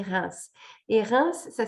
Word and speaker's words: Reims: ville s'appelle reims reims en anglais souvent ça se prononce weems mais en français on dit reims et reims ça s'écrit